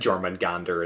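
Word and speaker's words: Jörmungandr: But yeah, I'm like 90% sure, Kyle, that Jormungandr is the correct pronunciation.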